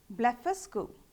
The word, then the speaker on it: Blefuscu: Blefuscu.